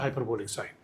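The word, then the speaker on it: sinh: তোমরা এটাকে কি উচ্চারণ করে আমি ঠিক জানি না, কিন্তু এটার উচ্চারণ হচ্ছে হাইপারবোলিক সাইন, আর কোনো উচ্চারণ নাই।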